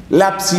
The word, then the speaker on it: lapsi: Lapsi es una palabra latina que quiere decir los que cayeron.